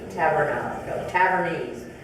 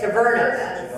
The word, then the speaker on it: tavernas: So, sorry, they're called Tavernese. I think I'm pronouncing it wrong. How do you say it? Tavernas. Tavernas.